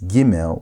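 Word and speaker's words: גימל: don't have a desh pronounce dallet with a d sound and pronounce giml with a g sound with or without the desh.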